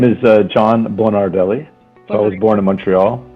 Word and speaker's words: Bonardelli: your last name so i don't misspell your pronunciation so my name is uh john bernardelli i was born in montreal and i've actually